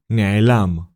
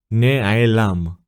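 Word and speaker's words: נֶעֱלָם: The first letter is Nun and decorated with Segol, which is the Nikud sign from the previous lesson. It creates the syllable Ne. The second letter is Ain and decorated with Chataf Segol. It creates the syllable Ae. Lastly, we have the letters Lamed and Mem. The letter Lamed is decorated with Patach. Together, they create the syllable Lam.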